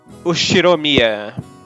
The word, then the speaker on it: Ushiromiya: no the first part is my family name ushiromiya that's a fairly plausible japanese pronunciation so far the problem is my own